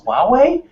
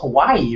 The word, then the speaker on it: Huawei: It's Huawei? I thought it was Hawaii or something crazy like that.